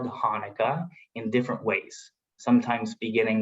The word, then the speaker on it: Hanukkah: I can only tell you how we write it in Hebrew, and it should be pronounced as Hanukkah.